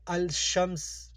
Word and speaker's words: الشمس: حروف ایسے ہیں کہ اگر ان کے شروع میں الف لام آتا ہے تو ان کا تلفظ نہیں کیا جاتا اور لفظ کا اول حرف تشدید کے ساتھ پڑھا جاتا ہے۔ مثلا یہ الشمس، الرحیم، النعمان وغیرہ لکھا ہے تو اس کو ہم پڑھیں گے الشمس، لام ادھر نہیں پڑھا